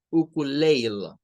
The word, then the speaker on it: ukulele: La primera palabra es parecida, uku, pero en la siguiente debemos decir ukulele, ukulele. ¿Y qué dinámica sigue esa? Bueno, que la E del final no se pronuncia, pero esa puede tener varias pronunciaciones.